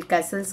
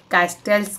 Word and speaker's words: Castells: देता है यहां पे जैसे कि इसमें केस्टल्स करके है तो इसमें टी साइलेंट होता है लेकिन जो ट्रांसलेट करते